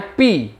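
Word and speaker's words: π: Ini bacanya pi, pi, ya.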